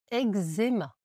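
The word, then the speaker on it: eczéma: On ditemma, on met un c mais on le prononce que donc eéma. Voilà, ça ce sont des exceptions.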